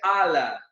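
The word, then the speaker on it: Allah: adorar apenas a ala como é a pronúncia árabe é a pronúncia ala ganhar a e também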